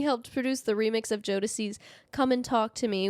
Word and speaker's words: Jodeci: Combs worked with newly signed artists like, and again, can't pronounce these. Did we decide it was Jodeci? Bless you. Thank you. And me. Yes, Jodeci.